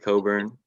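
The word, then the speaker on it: Cockburn: right now and then kofi coburn their center you can match up with anyone and that's how you say it yeah um and i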